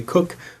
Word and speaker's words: Coke: Nós pronunciamos Coke, mas é Cook, os ingleses gostam de pronunciar dessa forma, eu vou pronunciar Coke.